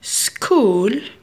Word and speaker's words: school: School CH نطقناها ك. So نحطوها مع الك.